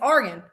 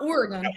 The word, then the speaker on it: Argan: Like it's organ. It's not Oregon.